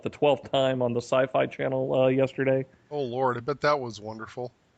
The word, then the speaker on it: Syfy: It was Sci-Fi. Oh, Siffy. Syfy, yes, Syfy. I guess they still pronounce it sci-fi, don't they?